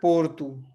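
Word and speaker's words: Porto: हमारे पास जो यहाँ शब्द है वो है पोर्तु, है ना, पोर्तु।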